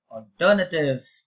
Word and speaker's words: alternative: You always say alternative. You can never say ah. You have to pronounce it as or.